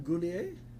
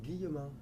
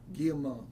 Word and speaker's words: Guillemot: Goulier? No, how do you say your last name? Guillemot. Guillemot.